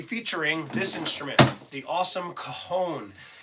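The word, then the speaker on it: cajón: We are going to be featuring this instrument, the awesome Coahone. It's spelled C A J O N, but like things in Spanish, the J is silent.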